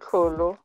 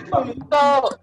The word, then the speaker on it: Tlholo: So I will have to agree with Murendeni and Tlholo. Middendorf makes the subs a lot quicker. Thank you for saying my name right. Wait, am I not saying it right? Sorry, Tlholo. Okay, Tlholo. Tlholo.